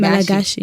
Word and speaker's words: Malagasy: Is that how you say it? Malagasy. Malagasy, yeah. When you're from Madagascar, it's Malagasy. Yeah, it's Malagasy. Okay. That's how we say it.